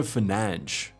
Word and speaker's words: Fernandes: And Fernandez, is it pronounced? It's pronounced Bruno Fernandes.